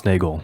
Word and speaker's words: Nagel: like to be a bat that was Thomas Nagel Nagel yeah thank you yeah and you have read